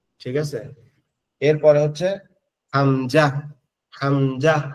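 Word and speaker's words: همزة: ঠিক আছে এরপরে হচ্ছে হামজা হামজা হামজা হচ্ছে আমাদের এই গলার শুরু এখান থেকে হবে। এই যে এখান থেকে এখান থেকে হবে হামজা হা। এই দুইটা এক জায়গা থেকে উচ্চারণ হবে।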